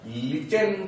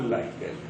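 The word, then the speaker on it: lichen: तो आंसर है क्या, लिचेन। कुछ लोग लिचेन बोल देते हैं इंग्लिश में, हिंदी में लाइकेन। सही प्रोनाउंसिएशन जो है, सही उच्चारण जो है वो लाइकेन।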